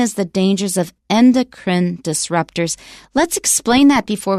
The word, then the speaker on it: endocrine: the most standard pronunciation that last e is not said you should draw a little X above that e so it's not endocrine endocrine but you might